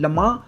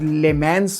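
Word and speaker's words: Le Mans: It's called लमा which is written S लेमन्स but pronounce लमा।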